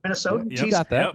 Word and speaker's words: Minnesotan: Minnesotan?